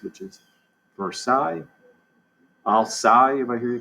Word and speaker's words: Versailles: of versailles they're sally's don't pronounce the way it looked pronounce it the way it's supposed to be pronounced which is versailles if i hear you call it for sales so versailles palace you